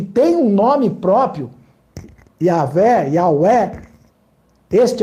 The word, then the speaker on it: Yahweh: A pronúncia mais correta, mais provável do nome do nosso eterno Deus seria Yahweh ou Yahvé. É a pronúncia mais próxima, que tem mais força arqueológica, histórica, dentro da história. Não é Yahu.